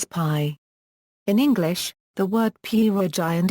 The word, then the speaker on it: pierogi: In English, the word pierogi and its variants, pierogy, pyrogy, pierogy, pierogy, pirohy, pyrogi, pierogy, purgeon, pyrogy, pirohy, pyrogi, and pyrohy, are pronounced with a stress on the letter O.